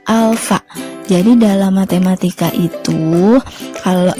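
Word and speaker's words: α: Nah, di sini ini dibacanya bukan A ya, tapi alfa.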